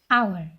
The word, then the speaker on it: hour: because it's become silent we pronounce it as our that's why n is